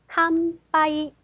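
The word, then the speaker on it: 乾杯: 단어 먼저 배라는 단어입니다 앞에서도 나왔었죠 자 아 캄파이 캄파이 뒤에 파 행위 왔기 때문에 미음 바이가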